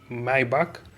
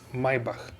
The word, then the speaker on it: Maybach: As you can see, very distinctive design for this Maybach, or we can say Maybach or Maybach. We have different pronunciations. In German it is Maybach, and in the English we can say different once again.